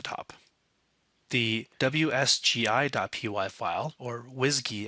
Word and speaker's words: WSGI: the wsgi.py file or whiskey as it's pronounced in the python world is just a boiler